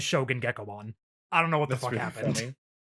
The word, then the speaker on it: Gekomon: It just sounds like the word gecko.